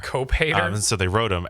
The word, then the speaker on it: cophater: It's spelled Cophater. Cope hater.